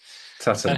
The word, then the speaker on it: Tuten: And the writer it's the name is actually, he pronounces it himself, Frederic Tuten. Tuten.